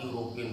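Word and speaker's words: European: है, लेकिन अब देखें ई वावेल तो है लेकिन इसका उच्चारण ओपन वावेल नहीं हो रहा है। इसका उच्चारण क्या बन रहा है? यू, यू बन रहा है, इसलिए इसके पहले अ यूरोपियन होगा।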